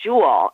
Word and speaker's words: Juul: kind of e-cigarette called Joule and that's it's it's it's pronounced like like a jewel like a diamond but it's actually Ju